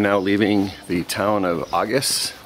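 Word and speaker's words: Agés: leaving the town of augus or as it's spelled ages we just had an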